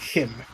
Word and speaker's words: CHIM: it Kim is how it's pronounced yeah it's pronounced Kim Kim okay well that was always the meme